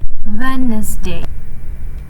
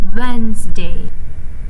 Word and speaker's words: Wednesday: So, for the wrong pronunciation for Wednesday will be Wensday. Meanwhile, the right pronunciation is Wednesday.